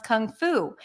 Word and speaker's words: Kung Fu: how you pronounce it you start with a C Sound then it's the uh as in cup c c c which is like a schwap but it's more stressed and the mouth is